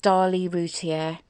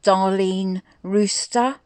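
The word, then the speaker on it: Darlie Routier: wrote them down one one of them was dali routier who he then proceeded to call darlene rooster i mean really who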